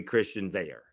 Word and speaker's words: Christian Veilleux: French name / Cajun name, but it's actually Christian Veilleux.